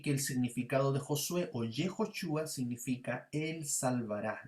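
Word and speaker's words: Yehoshua: tanto vemos allí que el significado de josué yehosua significa el salvará y está relacionado con libertad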